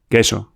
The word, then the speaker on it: queso: The U is silent. Say this with me. Queso Ko pimal.